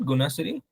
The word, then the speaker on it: Gunasiri: So you also have studied it, Gunasiri? No, it hasn't come up for me yet. Hmm. I'm pronouncing your name right, na? It's Guna Siri. So sometimes I'm saying Siri and sometimes Shiri.